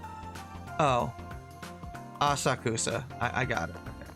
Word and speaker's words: Asakusa: Aka, was it Akasosa? Akasa. God damn it. How do you pronounce that?